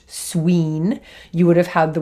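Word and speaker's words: swīn: they would have used the word swine which would have been pronounced Sween you would have had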